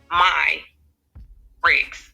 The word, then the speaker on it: Myricks: and you know what a lot of people um mispronounced my last name i just got someone missed prancer yesterday is um my rigs so just be like mine oh my okay all